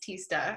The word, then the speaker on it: Tista: My name's pronounced Tista.